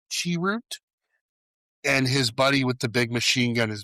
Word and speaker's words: Chirrut: And I like that he had So, his character's name is Chirrut, I believe it's how it's pronounced. Chirrut.